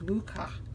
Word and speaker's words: Mucha: who inspired this jack my mother is Slovak so I kind of understood the pronunciation of the name as Luca it's sort of a ha that's how everything was pronounced growing up and my mother and grandmothers conversations so Tarot Muja or